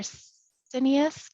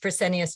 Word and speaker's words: Fresenius: Operations with, and apologize, I don't know if I can pronounce this correctly, for Fresenius Kidney Care. Nancy, we're so delighted to have you back. Thanks for being here. Thank you so much for welcoming me back, and I'm really excited to go into a few more details regarding resources available. And you pronounced Fresenius just fine.